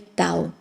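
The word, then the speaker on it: 道: es en chino El tao entonces este do en japonés pronunciado según la fonética japonesa es do pero en chino es Tao indica la vía el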